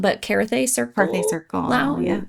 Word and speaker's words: Carthay: Adventure over on, don't murder me if I'm pronouncing this wrong, but Carthay Circle. Carthay Circle. Wow. Yeah, Carthay yes.